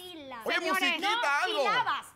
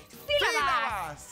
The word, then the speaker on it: sílabas: mugre encima del teclado es una tilde se dice sílabas un tilde A dónde